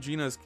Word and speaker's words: Gina: I do love Gina's pronounced Gina.